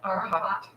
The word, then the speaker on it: Arhat: Arhat.